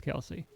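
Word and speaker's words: Kelce: And their dad's like, I just got tired of correcting people, so we're just sticking with Kelsey.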